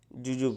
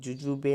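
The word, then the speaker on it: jujube: sweet lamb म्हणजे मोसंबी जुजूब okay जुजूब म्हणजे बोर आता जुजूब ची स्पेलिंग व्यवस्थित बघून घ्या जे यु जे यु बी इ जुजूबे नाही म्हणायचं इथं जुजूब जुजूब म्हणजे बोर नंतर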